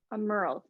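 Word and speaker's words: Aumerle: sworn how do you say his name sorry a merle thank you and spur thee on with full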